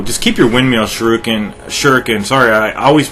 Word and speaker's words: shuriken: save it so just keep your windmill shrooking shuriken sorry i always mispronounce that it it it's pronounced shuriken but i've been so conditioned over the years to say shruken so we have a couple of armored vehicles